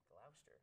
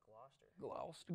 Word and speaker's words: Gloucester: Gloucester, not Gloucester. Gloucester. Gloucester. Well, it depends where you're from, how you say it.